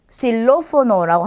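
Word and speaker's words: xilófono: 자, 우선 첫 번째요. 실로포노라고 합니다. 자, 단어의 첫 글자에 왔어요. 그러면 그냥 쌍시옷으로 하시면 돼요.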